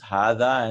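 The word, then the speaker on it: هذا: So the spellings we should remember, because this is written as haza and zalika, but they're pronounced as hada and zalika.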